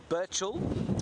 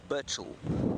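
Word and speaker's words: Burchell: It's Birchall, B-U-R-C-H-E-L-L, Birchall. And he was, like I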